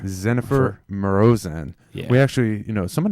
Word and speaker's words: Marozsán: Let's get the right pronunciation here. It's Dzsenifer. Dzsenifer Marozsán.